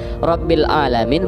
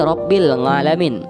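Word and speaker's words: رب العالمين: karena Wali Paidi ini ketika membaca huruf Ain menjadi Ang, Rabbil Alamin menjadi Rabbil Ngalamin.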